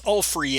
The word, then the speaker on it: Ulfrey: I think his name is Ulfer first. I think that's how it's pronounced. It's Ulfrey, and he is the rune seer, Ulfrey.